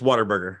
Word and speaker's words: Whataburger: It's Whataburger.